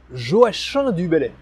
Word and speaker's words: Joachim du Bellay: Et oui, on prononce bien Joachim du Bellay.